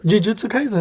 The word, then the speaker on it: Jujutsu Kaisen: Jujutsu Kaisen.